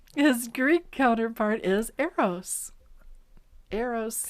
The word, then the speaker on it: Eros: Eros. As in I made a mistake.